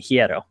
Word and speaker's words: Hierro: I was pronouncing it wrong yesterday, and he corrected me. Hierro is how you pronounce it.